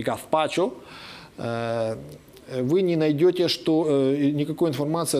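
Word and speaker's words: gazpacho: В этимологическом словаре вы не найдете ни малейшей ссылки на то, что слово гаспачо, которое пишется через букву Z и произносится испанцами гаспачо, вы не найдете никакой информации о том, что это могло бы быть баское заимствование.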